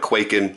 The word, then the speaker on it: Kwaiken: But the point is, we have Americanized the word. We call it Kwaiken, so that's how I'm pronouncing it, okay?